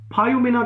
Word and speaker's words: Poioumena: फायुमिना का स्पेलिंग लिखो, POIOUMENA, फायुमिना, POIOUMENA, फायुमिना।